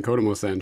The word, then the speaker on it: Kodomosan: name, it got my mind wondering, what does Kodomosan mean? And did I pronounce that correctly? You did. That's good. That's fine. Kodomosan, sure.